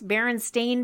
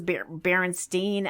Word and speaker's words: Berenstain: apparently no one knew how to pronounce Berenstain Bears growing up and assumed it was Berenstein.